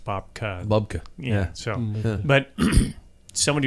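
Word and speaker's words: Bobke: But to reiterate what you said, so Bob Roll had his first book called Bob Key. Yeah. Or it's actually should be pronounced Bobka.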